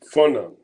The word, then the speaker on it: Fanon: His name is Francis, and I think his name is pronounced uh, Fanon, and it's spelled Fanon.